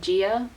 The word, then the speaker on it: Gaia: basically I don't know it's spelt like Gaia but what else into the audio books they said Gaea so I'd already know what the pronunciation is if you have better